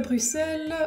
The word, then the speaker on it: Bruxelles: Déjà, quand tu arrives à Bruxelles, oui parce qu'on prononce Bruxelles, c'est bien la seule chose qu'on ait concédé aux Flamands, tu as déjà assez